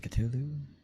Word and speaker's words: Cthulhu: I have no idea how to say the name because I mean even like Cthulhu is pronounced Cthulhu.